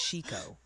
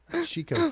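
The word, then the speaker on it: Chicot: They're passionately confirming panty size hail after you bravely waited until that chicken county is Chico. Chico County.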